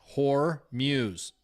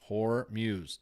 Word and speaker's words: Hormuz: Somebody asked me, "How do you say that?" Hormuz. Like, Muse. Hormuz.